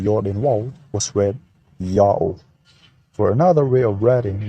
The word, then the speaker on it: Ya'oh: The vowels A plus U contracted to O as in August were written in Akkadian with a U sign. Thus the pronunciation is also Yao.